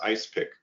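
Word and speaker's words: EISPC: um also mostly um the acronym we usually pronounce as ice pick three national labs collaborate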